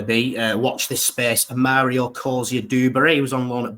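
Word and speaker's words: Amario Cozier-Duberry: Amario Coia-dubbury.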